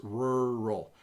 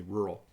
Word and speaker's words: rural: not touching the roof it's rural it almost is forming I don't want to open my mouth it's almost forming kind of a cup and I say rural and I live in